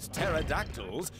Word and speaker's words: pterodactyls: one of the best-known facts about pterodactyls is that they have a silent p which they use to